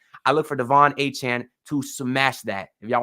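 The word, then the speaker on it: Achane: and I look for Devon A-Chain or A-Chan. He actually said it's pronounced. I look for Devon A-Chan to smash that if y'all want some free money.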